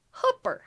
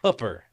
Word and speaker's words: Hooper: So it's hooker, Oh, but with but with a with a P. Hooper. Hooper.